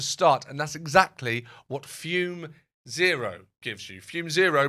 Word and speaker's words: Fume: This episode is sponsored by Fume Zero. That's fume pronounced fume spelled fu m.